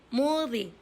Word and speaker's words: 모디: 원래 아랍 발음으로 제 이름은 모디. 근데 한국 발음으로 무디 이렇게 나와요.